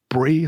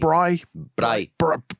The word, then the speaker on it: braai: And it was a barbecue or a brie, is that what they call them? Braai. Say it again. I think they pronounce it braai. Braai. Yeah, A braai. braai. You've much better pronunciation than me.